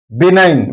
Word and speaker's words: benign: Benign means kind. Here N comes after G. So G is silent.